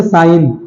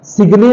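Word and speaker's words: sign: जी साइलेंट हो जाएगा जैसे साइन एस आई जी एन सिगने तो बोलते नहीं सिगन बोलते नहीं साइन बोलते हैं जी का हल्का सा भी साउंड नहीं है जी बिल्कुल साइलेंट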